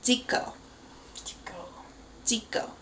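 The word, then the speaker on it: Zico: videos you know that there is no Z in the Korean language so his name is pronounced Dio Dio with kind of that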